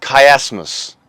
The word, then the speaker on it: chiasmus: It's called kayasmus. Yeah. Yeah. I know it's spelled ch, but it's pronounced not like that.